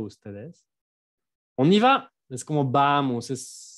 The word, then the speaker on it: on y va: On y va. 3 sílabas.